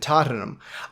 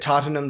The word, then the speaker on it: Tottenham: which is Bournemouth and Tottenham I I agree that Tottenham does well um why do I pronounce it that way it's Tottenham not Tottenham Tottenham just an educated